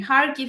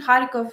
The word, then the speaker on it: Kharkiv: Kharkiv is Ukrainian, Kharkov Russian.